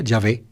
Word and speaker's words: Yahvé: ustedes buscan en hebreo estarían las cuatro consonantes yod he vao je que se pronunciaría o se pronunciaría yahvé pero un judío ni